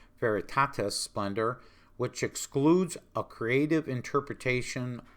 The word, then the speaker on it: Veritatis Splendor: All right, the fifth dubium asks if the teachings of the Veritas Splendor, sorry, I keep mispronouncing that, Veritatis Splendor, which excludes a creative